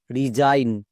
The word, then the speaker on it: resign: সো ভুল করেও আমরা সিগন উচ্চারণ করব না। আরো কয়েকটি ওয়ার্ড দেখো, যেমন DESIGN Zain, ডিজাইন, RESIGN Zain, রিজাইন, এই ওয়ার্ড প্যাটার্নটা অনেকে জানছই না।